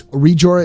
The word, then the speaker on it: Rijora: It's Rijora is Rijora, Rijora. It's pronounced Re. It's like Re. Jor, J-O-R, Jor. Ah, like A-H. Rijora.